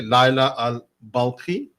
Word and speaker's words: Laila Al-Balkhi: I just want to make sure that I pronounce her name correctly, Laila Al-Balkhi.